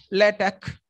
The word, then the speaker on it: LaTeX: See, LATEX we pronounce as L-A-T-E-H, LATEX.